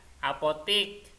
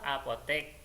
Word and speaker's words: apotek: Jadi yang sesuai dengan ejaan bahasa Indonesia itu nasihat. Ya. Kemudian apotik. Nah, yuk kita beli obat ke apotik. Nah, yang benar tulisannya itu apotek.